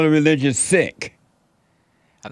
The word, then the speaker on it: Sikh: they call the religion sick I'm not sure he said is spelled s-i-k-h but it is pronounced s-i-c-k that's true in haste